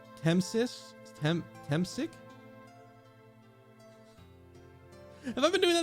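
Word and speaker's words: Temsik: Temsic? Have I been doing that the entire fucking game? Temsic? Not Temisk?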